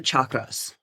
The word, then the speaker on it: chakra: First of all, what are the chakras? Okay. Or the chakras. Chakra is how you pronunciate it. It's how you pronounce it in Sanskrit.